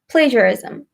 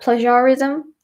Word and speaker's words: plagiarism: plagiarism Mohnish multiply plagiarism because that's how it's spelled it's spelled P L AG I a are i sm plagiarism not plagiarism not pleasure ism plagiarism also watch it